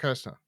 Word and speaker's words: Kreischer: Bert Kirshner? Yeah, that's it. Bert Kirshner.